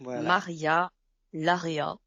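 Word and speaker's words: Maria Larrea: gens de Bilbao naissent où ils veulent de Maria Lara ça se prononce comme ça toujours au livre de poche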